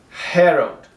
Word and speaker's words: herald: Herald. So the stress is here. But this A will be pronounced like an O.